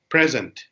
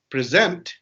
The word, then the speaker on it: present: as of now etc when we have present right it will be a verb right where the like you know the stress is on the second syllable and it will be